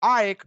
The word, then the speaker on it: AEK: They are playing at home against AAK Athens, or AEK Athens, how the Greeks are saying.